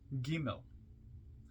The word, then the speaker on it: Gimel: world to come comment on gimmel g m e l pronounced giml hard G transcribed as G the